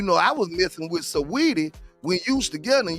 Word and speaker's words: Saweetie: Some call her Sweetie, some call her Saudi. The way it's pronounced and spelled to me is Saweetie.